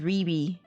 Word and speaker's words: Riri: Is it pronounced Rai Rai? No, it's pronounced Riri.